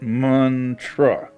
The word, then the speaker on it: mantra: Man pronounced like run, tra like truffle. Got it. Muntruh.